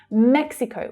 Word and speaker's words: Mexico: Mexico. Watch out for the consonant cluster here in the English pronunciation. You have k, s, x, mex, Mexico.